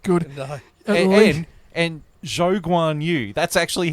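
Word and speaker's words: Zhou Guanyu: And Zhou Guan Yu. That's actually how you're supposed to pronounce his Oh, name.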